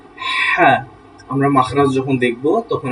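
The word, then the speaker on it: ح: তাকে বলবো আমরা হা, তাকে বলবো আমরা হা, হলকের মাঝখান থেকে হা।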